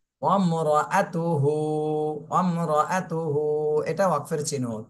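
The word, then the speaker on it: امرأته: তিনবার জোরে জোরে বলি দুই একজন কিন্তু আতুহু বলতেছেন হু না আব তুহ তাহা পেশ তুহ এভাবে বলতে হবে ওয়ামর ওয়াও যে মিমকে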